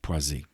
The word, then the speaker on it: Poissy: p-o-i-z excuse me p-o-i-s-s-y but the ss is pronounced as a z poisey matt for a month